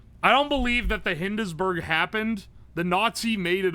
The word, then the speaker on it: Hindenburg: I should have known because it's Hindenburg, not Hindesberg.